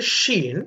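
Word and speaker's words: شين: அடுத்து நாம் பார்க்க இருக்கின்ற எழுத்து ஷீன். அதே வடிவம் மேலே 3 நுக்தாக்களை கொண்ட எழுத்தாக இருக்கும் ஷீன். இதனை நாங்கள் வட எழுத்து ஷானாவை போட்டு உச்சரிக்க முடியும். ஷீன் என்று ஆங்கிலத்திலே எஸ்ஹெச் பாவிக்க முடியும். இஷ் என்கின்ற அந்த உச்சரிப்பை கொண்டதாக இருக்கும்.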